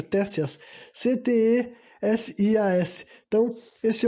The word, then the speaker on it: Ctesias: Ctesias, o nome do cara é com C-T-E, sabe? Começa com C mudo, eu acho, Tésias.